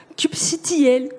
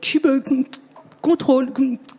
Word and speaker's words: kubectl: Chaque personne dans ce monde a sa propre façon de prononcer la CLI de Kubernetes. kubectl, kubecontrol, kubectl.